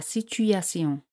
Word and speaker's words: situation: La situación, la situation. T con I o N se pronuncia S, la situación.